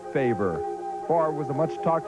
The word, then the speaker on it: Favre: It's Favre, right? Favre. It's, I don't know. You know, it's hard to explain. It's F-A-V-R-E, but it's Favre.